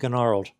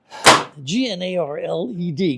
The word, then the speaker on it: gnarled: they will turn and come free without being gnarled GN a r l e d gnarled the g is silent so anyway let's take this off and